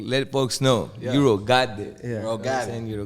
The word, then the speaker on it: Eurogotit: That's why I make sure it's like they don't get it mistaken for got it. It's got it. Like, Got it. Oh, I got it. Man. Okay, I got it. I got it. Like, just like that.